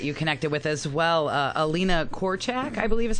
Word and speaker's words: Alina Korchak: Russian journalist that you connected with as well Alina korchek I believe is how you pronounce her name yeah well confirm that with